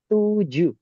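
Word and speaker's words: tujuh: which is tu so Indonesian U is actually pronounced as a double O in English.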